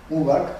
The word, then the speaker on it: Warburg: Nosotros vimos el trabajo de Enrique y dijimos, bueno, esto se parece a Avi, bueno, ¿cómo lo pronuncias tú? Ubar, pero yo digo Warburg, que es un alemán